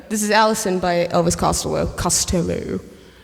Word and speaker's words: Costello: Um, because Costello. Oh, Costello. No, that's how he actually pronounces his name. It's Costello. cuz it's like his mother's maiden name.